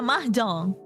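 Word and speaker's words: mahjong: Mahong. What other way is is there? Huh? How do you pronounce it?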